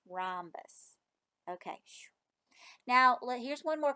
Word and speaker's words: rhombus: is called a rhombus that might be a new word for you rhombus look at it and look how it's spelled with the H rhombus okay now here's one